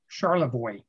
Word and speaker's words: Charlevoix: We are going up to what I want to pronounce Charlevoix, but what the locals in northern Michigan pronounced Charlevoix.